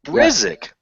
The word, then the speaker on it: Brzyk: It's actually Brzyk. It's a Polish Brzyk. last name. Brizik.